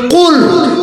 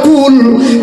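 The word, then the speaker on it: قل: কুল যে কাপের মাথায় নক্তা আছে ওই কাপটাও এই কণ্ঠনালীতে উচ্চারণ হয় ক ক।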